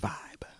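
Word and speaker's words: VīB: One half of the fresh R&B duo named Vibe. Ooh. V-I-B, that's Vibe, no E.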